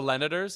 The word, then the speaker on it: Selenators: So, Selenators? Yeah, senators with an L in there?